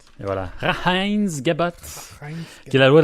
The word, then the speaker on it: Reinheitsgebot: Reinheitsgebot. Et voilà. Hein? On va regarder. Prononce ça. Reinheitsgebot. Et voilà. Reinheitsgebot.